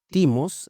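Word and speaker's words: thymos: La primera de ellas es eh timos, así se escribe, t h y m o s, cuya raíz significa derramarse ferozmente.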